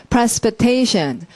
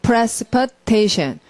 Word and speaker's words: precipitation: precipitation. 여러분도 발음을 강세를 두 군데다 하는 거예요. precipitation. 저 발 소리 들리죠? precipitation. 이렇게 양쪽을 찍어서 precipitation 해야지 말이 길지 않게 느껴져요.